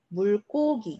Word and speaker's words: 물고기: 자, 그 다음에 얘 발음 어떻게 하죠? 물고기 이렇게 발음해요. 자, 물이라고 하는 공간이 연결되어 있기 때문이에요.